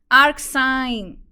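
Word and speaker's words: arcsine: that's an interesting girl oh it rhymes with mine very clever AR sign yeah I like that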